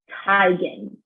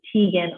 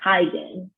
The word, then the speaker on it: Teigen: tired of living this it's tigen in september 2018 she's correcting those who have pronounced it teagan all these years so it's chrissy tygan you know what's awful